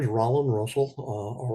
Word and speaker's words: Rollin: uh my name is Rand Russell uh r o l l i n Rand rhymes with pollen uh I've been living